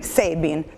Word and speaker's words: Sabin: so bene che poi come si pronuncia sabine albert sabin no c'era si pronunciasse ibi sebin all'americana se va bene ecco